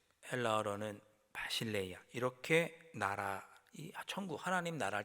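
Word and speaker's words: βασιλεία: 바를 신뢰 뭐 이렇게 부르죠 히브리어는 말코트 헬라어로는 바실레이아 이렇게 나라 천국 하나님 나라 때 나라를 발음을 합니다 근데이 나라는 단순히 어떤 지형적인 정치적인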